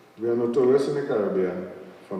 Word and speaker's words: Caribbean: of Multidisciplinary Studies, and you may notice I pronounce the word Caribbean rather than Caribbean. It's because my father studied in English in England, and this is the original pronunciation, Caribbean rather than Caribbean. You know, I sometimes do that to let people know that I'm not mispronouncing the word. It's the original English pronunciation, and if you go to England, they still say Caribbean, not Caribbean. So Caribbean both are optionally accepted, I might put it that way.